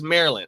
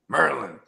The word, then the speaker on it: Maryland: I want to say it's Maryland. Oh, my mom. It's funny. I said Maryland because that all my homies from D.C. and Maryland, they said, nah, bro, you're saying it wrong. Maryland.